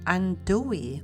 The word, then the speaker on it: andouille: worcestershire sauce and using andouille sausage is very very traditional in making gambo and by the way it is pronounced undoi although it has two l's but the two l's are silent after slicing the sausage